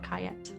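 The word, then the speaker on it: Ankhayat: uh but it's spelled a n k h a y a t on cayet gotcha uh and that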